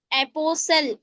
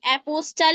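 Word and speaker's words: apostle: कैसे जी टी is silent before L देखिए एपोसल एपोस्टल नहीं टी साइलेंट हो गया एपोसल पढ़ेंगे ब्रिस्टल नहीं ब्रिसल पढ़ेंगे बस्टल नहीं बसल पढ़ेंगे।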